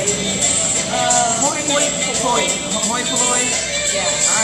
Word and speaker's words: hoi polloi: Hoi polloi. Yeah. All right. Hoi polloi.